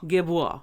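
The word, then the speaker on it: Café Guerbois: Guébois. Café Guébois. Café Guébois. You gotta throw your head back a little. Guébois. Give it some French attitude. Yeah, Guébois. Guébois. Guébois. So, yes, the S is silent.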